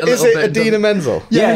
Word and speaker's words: Idina Menzel: So I'm especially happy that the actress that played her, Idina Menzel, is that how you pronounce it?